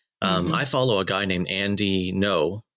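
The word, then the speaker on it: Andy Ngo: I follow a guy named Andy No, which is spelled NGO, on Twitter, and he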